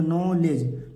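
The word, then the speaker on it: knowledge: चीजें नहीं पढ़नी है एक के को नहीं पढ़ना है एक डी को नहीं पढ़ना है ई को नहीं पढ़ना है तो इसे क्या हो जाएगा नॉलेज नॉलेज माने ज्ञान उसी प्रकार नी इसको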